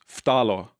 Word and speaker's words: phthalo: The PH is silent. It's not an F sound. PH makes a fucking F. Phthalo was what I thought it was. Phthalo.